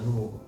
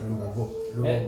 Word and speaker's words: Lubogo: Ladies and gentlemen, my name is Lubogo, and although these days people are telling me not to pronounce it as Lubogo, he said I should pronounce it as Lubogo.